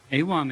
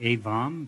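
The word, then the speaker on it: Ewam: little bit more like avam but in tibetan we don't have a v so V's get turned into W's so uh I used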